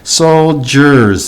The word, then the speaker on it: soldiers: how it looks like it's about soldiers but it has like a g sound soul jurors this d-i-e-r has like a g sound which is unusual and then vietnam i've